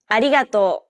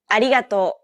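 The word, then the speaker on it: ありがとう: cutter and so on don't roll your tongue like an English R most of the air should go around the sides of your tongue the same way it would when pronouncing an l sound this is why many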